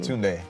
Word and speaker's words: Tunde: Tunde.